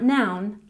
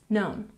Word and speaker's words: known: known practice with me no new known not noun known one more time no